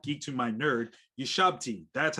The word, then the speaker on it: shabti: my new look geek to my nerd you shabti that's how you say it thank you so